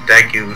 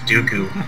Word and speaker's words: Deku: And I called Deku sticks Dooku. Yeah.